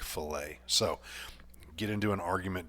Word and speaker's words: fillet: to it okay now every time I've watched a video it's always pronounced fill it but when I look at that word I think filet so get into an